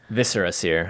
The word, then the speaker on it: Viscera Seer: I like how you pronounced it correctly. Viscera Seer. I know we got so many darn It's like comments. eviscerate. Oh, I learned that. That's but I still will call it Viscera Seer a lot, so I apologize for all those